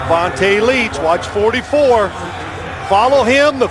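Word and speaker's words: Vonta Leach: You said it right. Vonte Leech.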